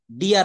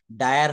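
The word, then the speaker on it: dire: এই জায়গাটা একটু দেখবেন আই আর ই যদি একই সঙ্গে থাকে তিনটি বর্ণ ওয়ার্ডের শেষে থাকে তবে এর উচ্চারণ আয়া হয় কি হয় আয়া যেমন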